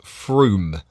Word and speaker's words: Frome: already round there it says from but it's pronounced Froome and it's um one of the rivers that we have going through Dorset is Frome and also Somerset Froome United breweries now uh and I'll just show